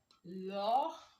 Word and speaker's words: leur: Then dear in French, we have leur, and love. They have the same pronunciation, but in writing, you only add s to the plural form.